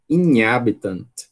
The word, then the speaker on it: inhabitant: palavra como essa, e quando a gente vê um NH junto, como é que a gente vai pronunciar essa palavra, né? Vai dizer inhabitant. Inhabitant. Né? Essa é a vontade que todo mundo tem de dizer, né? Quem não conhece essa palavra, lógico, né? Porque quem conhece sabe que a pronúncia nativa dela vai ser inhabitant.